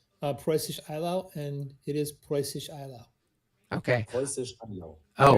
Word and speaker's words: Preußisch Eylau: Okay, on my my streak of pedantism, I actually looked up how to pronounce it, Preußisch Eylau, and it is Preußisch Eylau.